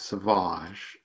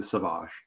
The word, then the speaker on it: Savage: Well, if you're French, you pronounce it as sauvage. And when he picks up his nom de plume for various reasons that I won't have any spoilers, he shifts it subtly to sauvage.